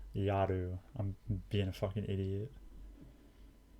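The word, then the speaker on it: やる: 緒に宿題をやろ I said it wrong. I said yoru. Yaru.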